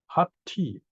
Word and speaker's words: Hatthi: Now in Pali and in Indian languages, you usually pronounce every letter. So Hat, there's a double T, 1 T belongs to the front, 1 T goes to the back.